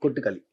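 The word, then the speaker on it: Kottukkaali: Kuttakali, is that the correct pronunciation? Kottikali. Kuttakali. Kottikali.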